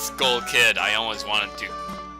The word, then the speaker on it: Skull Kid: Not Stalkid, it's Skull Kid.